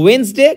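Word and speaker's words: ওয়েডনেসডে: যে যাই বলুক এইভাবে মাথায় রাখবে ক্লিয়ার তো ওয়েনসডে কিন্তু স্পেলিং এর জন্য ওয়েডনেস ডে ক্লিয়ার সিন্স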